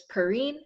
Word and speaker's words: Perrine: Hey guys, my name is Perrine, rhymes with marine, like marine bio.